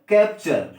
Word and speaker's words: capture: Spelling की बात किया जाए तो CAPTURE। तो URE आ गया कि नहीं आ गया, टी के बाद भाई, टी के बाद URE आया, तो इसको हमने क्या पढ़ा, च पढ़ा हुआ है।